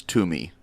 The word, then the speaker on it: Twomey: It's Jared Twomey. Twomey. Twomey? You guys taking a stab at that? The guy I know whose last name spelled like that is Toomey. Jared Toomey.